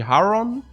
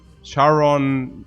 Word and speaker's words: Charon: greek one so korea correct greek would be haron and if yeah but the the americans they they say i mean there was like uh charon methodically you have to check phonetics i so it takes me charon mythology but yeah but you can all say haron yeah toby says english likes